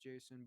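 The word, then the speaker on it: J'son: It's this guy named Jason, I guess is pronounced Jason, but there's no A. It's like an apostrophe.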